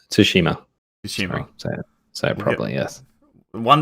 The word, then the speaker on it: Tsushima: it's been it's it's all about ghost of shishima tsushima consuming so probably yes one day we'll see someone pronounce it curriculum but ah that's it we